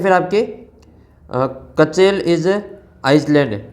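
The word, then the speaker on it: Iceland: इसमें आपको इसका जो आइसलैंड ऐसे बोला जाता है आइसलैंड तो इसका जो उच्चारण हो रहा है वो वोवेल्स में हो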